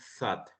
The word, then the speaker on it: thought: No tanto como la Z, porque si vemos la Z sería como como sat, sino que como ponemos la lengua entre los dientes y decimos thought.